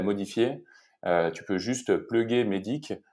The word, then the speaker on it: MEDDIC: Et ben, MEDIC, en gros, bah, c'est un acronyme. Donc, c'est des lettres. Donc, MEDIC, ça s'écrit MEDDIC.